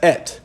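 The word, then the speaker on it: את: They pronounce it as et.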